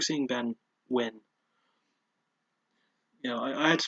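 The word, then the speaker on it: Nguyen: I like seeing Ben win. You know, I had to space that because his surname sounds like the word win.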